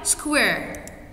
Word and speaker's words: square: Did they pronounce E here? No, so it's a silent E.